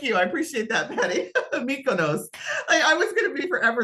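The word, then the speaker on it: Mykonos: come up a mutant MOS mikonos there we go thank you I appreciate that Patty mikonos I was gonna be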